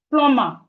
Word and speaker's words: plumber: The B in plumber is silent. Please, this word is not plumber. It's correctly pronounced plumber.